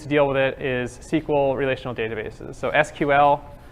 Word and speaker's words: SQL: deal with it is sequel relational databases so SQL I'm gonna pronounce sequel you'll get used to that and that's how most people pronounce it but you know this